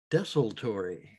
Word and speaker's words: Desultory: death metal band called desolatory or desaltery but i think the correct pronunciation is desolatory you look very destitory